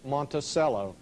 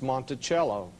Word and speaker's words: Monticello: A lot of people call the name Monticello. Actually, the correct pronunciation is Monticello. Monticello, two French words.